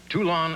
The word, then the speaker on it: Toulon: in Illinois well it could be did I pronounce the town right he's a tool on to us too long Illinois hmm that's the only city to United